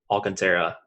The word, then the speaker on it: Alcantara: on that one yeah Oh Alcantara I just he's for enunciate in each syllable correctly yeah this isn't English right it's not an English name so if it was an American last name then yeah Cointreau area wouldn't do it I don't know if